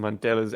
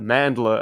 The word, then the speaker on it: Mandela: and mispronunciations i've heard people say the mandler effect oh no mandela but mandala is a